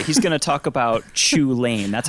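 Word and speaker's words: Chulane: He's going to talk about Chu Lane. That's how it's pronounced, right?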